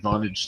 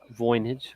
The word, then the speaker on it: Voynich: Yeah, I think I interrupted Vonage too. How do you pronounce his name? Voynich. Voynich, sorry.